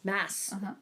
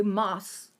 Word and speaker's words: Maas: is sarah j maas mass it's but one s that's how you pronounce it really yeah that's how i've heard people pronounce it because with a double a you would think it'd be moss yeah i don't know